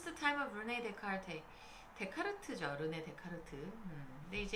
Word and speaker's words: 데카르트: 그렇게 읽어야 되는데 이 데카르트가 프랑스 사람이죠. 그래서 불어에서는 ES를 발음을 안 해요.